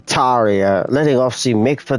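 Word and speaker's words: Tarja: Oh, that's how you say her name, Taria. Like Arya, but with a T, Taria.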